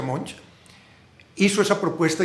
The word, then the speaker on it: Monge: Este señor Monge, creo que se pronuncia así, se escribe Monguy, pero creo que se pronuncia Monge, hizo esa propuesta y se la aceptaron inmediatamente.